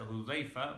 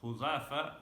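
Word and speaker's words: Hudhafa: So it is mentioned that Abdullah ibn Huzafa, some pronounce it Hudayfa, but Abdullah ibn Huzafa was sent to the Kisra.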